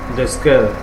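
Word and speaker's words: desquelles: Laquelle, duquel, desquelle, okay. Yes, for those who are not used to it, the S actually is not pronounced.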